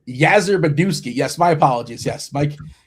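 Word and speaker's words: Yastrzemski: Uh it's pronounced Yazer Beduski.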